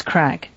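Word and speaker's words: craic: a word like that sounds like the word crack but it means like just talking and and parlins and shooting the and stuff yeah it's crack yeah but it's spelled Celtic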